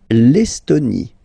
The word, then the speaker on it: L'Estonie: L'Estonie. Final E, not pronounced.